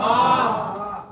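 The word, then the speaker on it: ب: আছে নাম নাম কি ম পাশে আকার লাগালে উচ্চারণ কি হয়ে যায় বা এরও নাম বা তবে এর উচ্চারণটা একদম সহজ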